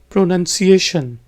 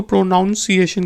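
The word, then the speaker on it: pronunciation: की जरूरत है माय प्रोनंसिएशन नीड्स प्रैक्टिस बहुत से लोग इसको प्रोनाउंस एशन कहते हैं जो कि गलत है यह प्रोनंसिएशन स्पेलिंग आप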